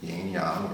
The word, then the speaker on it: yin yang: I would say that you heard of the yin and yang, which is proper pronunciation is yang, yin yang, right?